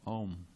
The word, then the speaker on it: Om: You are the shelter of the syllable Om, which consists of the 3 letters A-U-M, Om.